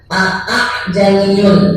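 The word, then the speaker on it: أأعجمي: Hamzah pertama dibaca jelas, hamzah kedua nanti dibacanya itu seret. Tashil itu jadi nyeret. Pada kalimat a'janiyu wa arabi qul huwalil ladzina amanu wa syifaa. Jadi bacanya itu a'janiyu.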